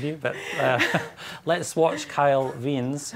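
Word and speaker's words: Wiens: I think Kyle Veens. The jury is out. I did ask. You asked him and he said Veens? And we are sure about it.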